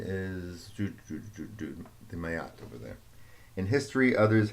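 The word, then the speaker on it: Maat: They called this rhythm Mayat, if I'm pronouncing it correctly. I've heard it pronounced Mat, but I tend to do Mayat.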